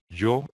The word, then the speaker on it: yo: In this case, we have the Y sound, and you will pronounce it like, for example, in Japan. You see the sound? Let me get closer to the camera. Try to copy the sound, and then a straight O, an open O, O, O, O, yo.